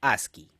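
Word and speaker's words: ASCII: el código asi o as c i i se pronuncia asi el conjunto de caracteres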